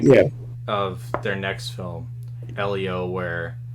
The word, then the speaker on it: Elio: Elo? Elio, Elio.